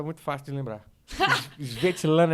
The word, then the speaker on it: Svetlana: É Svetlana. Svetlana. Entendeu? Alguém tem que ter... É assim que se pronuncia mesmo, Svetlana.